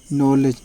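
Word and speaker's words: knowledge: के एन डब् को नो पड़ जाएगा इसका उच्चारण होगा जानना अगला वर्ड है के एन ओ डब्लू एलईडी जी यानी कि नॉलेज नॉलेज मीस ज्ञान टीसी यानी क्या इसके अलावा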